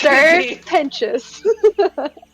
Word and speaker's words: Serpentious: It's Serpentious. Okay, he's also a knight. It's like pretentious, but Yeah. sir. So what, TIOUS? It's like serpent and pretentious put together.